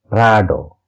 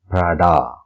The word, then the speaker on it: Prada: Okay, our next brand is Prada, and it's pronounced as Prado. Prado. In Italian, Prada.